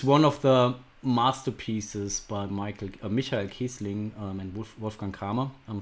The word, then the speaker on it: Michael: I think this is one of the masterpieces by Michael Kiesling and Wolfgang Kramer. I'm sorry, that's a German pronunciation for these names. I know you would say Michael, but it's Michael Kiesling and Wolfgang Kramer.